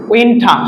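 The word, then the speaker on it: winter: উইন্টা শব্দ শেষে না থাকলে আর উচ্চারণ হয় না, উইন্টা।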